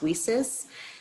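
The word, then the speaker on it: WiCyS: president of women in cyber security pronounced weases and yeah thank you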